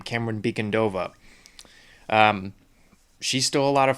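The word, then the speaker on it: Camren Bicondova: But the character of Selina Kyle, played by, I finally know how to pronounce her name, Cameron Beacondova.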